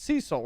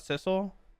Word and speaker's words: Cecil: It's Cecil, right? Not Sisle.